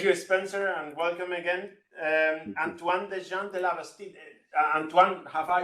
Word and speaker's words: Antoine Desjean de la Bastide: Antoine Desjean de la Bastide. Antoine, have I pronounced correctly?